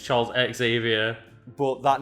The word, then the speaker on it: Xavier: actually supposed to pronounce xavier you don't pronounce the x okay okay yeah and